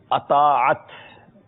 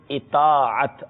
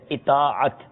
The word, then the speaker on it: اطاعت: اطاعت، الف کے نیچے زیر ہے، حمزہ کے نیچے زیر ہے، اطاعت.